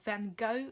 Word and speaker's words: Van Gogh: This one is from Van Gogh, or Van Gogh, as you Americans say it.